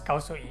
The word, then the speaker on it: Khao So-I: Very similar sounding to the dish khao soy, but the restaurant's name is pronounced as khao soy based on how it's written in Thai.